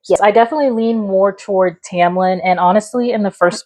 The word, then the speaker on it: Tamlin: I'm still a Tamblin girly. And yes, apparently we've been saying it wrong. That will happen a lot. Uh this is a shout out to Chris, our other best friend. You know, we both say Tamlin and Tomlin and Chris Carex says I am so sorry.